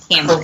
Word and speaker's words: Cambre: Which it's spelled Cambre. Cambre.